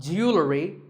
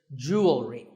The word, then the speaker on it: jewelry: number 44 is jewelry it's spelled differently in American and British English but it's pronounced the same Jew will read jewelry it's not jewelry and it's not jewelry it's jewelry up next is the